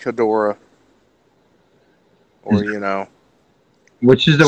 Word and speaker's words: Hedorah: don't know if that's how people pronounced it, but that's how I've always heard it pronounced, was Hedorah.